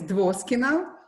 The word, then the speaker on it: Dvoskina: For me, my surname is Dvoskina, for people who can't pronounce it.